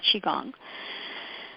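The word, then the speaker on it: Qigong: Chi means in Chinese whether it's spelled Chi or Qi it's chiong and um uh initially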